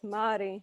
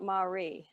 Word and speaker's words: Māori: The R's in Māori should be rolled. Okay, so it's Māori, not Māori.